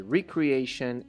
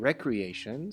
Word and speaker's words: recreation: The next hint is these 2 words, same spelling but different meaning and different pronunciation. Re something and re something. It was recreation and recreation, so the word was create.